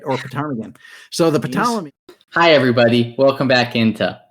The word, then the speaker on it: Ptolemy: Okay, these are the Ptolemies spelled with a P in the front, right? Yeah. Right. Okay, so this was a long, like pterodactyl, right? Or ptarmigan. So the Ptolemy.